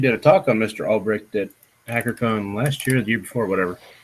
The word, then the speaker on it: Ulbricht: A Silk Road founder, Ross, how do you pronounce his last name? Ulbricht.